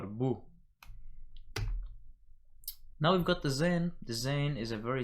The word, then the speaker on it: Zain: That's the Zain. Then you've got the Het, or the Het, as it is pronounced in some subdialects of the Eastern dialect.